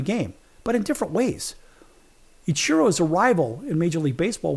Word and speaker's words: Ichiro: Which actually that's the right way to say his name, Ichiro.